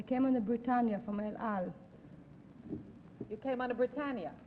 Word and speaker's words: El Al: Number two, the El Al, is that the way you pronounce it? Yes, El Al yes.